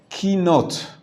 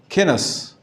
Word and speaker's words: kinot: And then, after reading of the Torah, everybody sits on the floor and recites kinot. The Ashkenazi pronunciation, it's kinos. It's the taf and the saf, right?